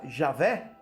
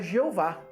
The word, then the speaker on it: Javé: certo problema de fato enquantos muitos sustentavam que esta era a forma correta de pronunciá-la Javé outros pensavam que erroneamente era Jeová qual é a origem